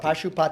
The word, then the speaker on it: Pashupati: Pashupati.